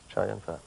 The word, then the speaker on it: Chow Yun-Fat: Yes, Chow Yun-Fat.